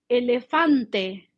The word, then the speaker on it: elefante: for Spanish speakers in elefante Elefante elephant eh a f a ah did you hear that e is the letter e but in Spanish is a so it doesn't change